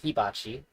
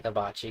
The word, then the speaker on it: hibachi: and had a hibachi, or as my wife would say, hibachi. It's the right way to say it, but I say hibachi because I'm a gringo.